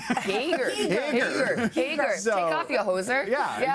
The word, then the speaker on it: Hager: Hey, I say Hager. Hager. So- Take off your hoser. Yeah, exactly. Okay. You've got a pretty pronounced accent.